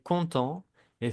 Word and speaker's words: contente: Alors, masculino c'est content et féminino contente. En el féminino se va a pronunciar la T. Porque ya vamos a pronunciar la última consonante antes de la E.